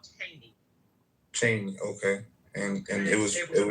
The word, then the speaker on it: Cheyney: I believe that's what he was trying to pronounce. Yeah. It's called Cheyney.